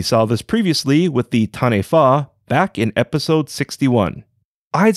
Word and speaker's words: Tane: chosen light god tane tane is spelled like the hawaiian word kane with a t as in tom replacing the k fido's most common harbingers